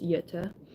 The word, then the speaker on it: Jutta: lives with his sister, Jutta, even though it's spelled with J, it's Jutta, and in a children's home in Zollverein, Germany.